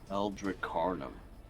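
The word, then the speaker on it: Eldricarnum: l d r i c a r NM eldri carum uh it is essentially a um like a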